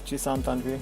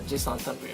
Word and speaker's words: Jisan Tanvir: Yes, we're going to be talking about cosplaying, and who none other than Jisan Tanvir. Did I pronounce it right? Yeah, it's pronounced right. It's Jisan Tanvir. Jisan Tanvir.